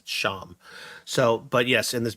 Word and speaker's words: Champs: it's spelled really weird I mean sham is Champs c-h-a-m-p-s sham so but yes in